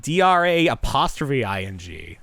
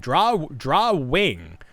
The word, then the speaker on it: drawing: Drawing sounds wrong. It sounds like DRA''ing. You got to get the W. Drawing. I'm saying it right. You guys are saying it wrong. Wing. Draw wing. That's what the word is.